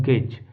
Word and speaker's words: gauge: जैसे मान लीजिए अगर मैं लिखता हूँ GAUGE, गेज, इसको बोलते हैं गेज। अब यहाँ पे देखिए इसका जो प्रोनाउंसिएशन निकल के आ रहा है वो है गा, यानी कि ये वाला जो हमने लिखा है, लेकिन इसका जो निकल के आ रहा है वो आ रहा है जा।